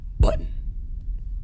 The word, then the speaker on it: button: Instead of this word being pronounced as button, it would be like button, button, button, button.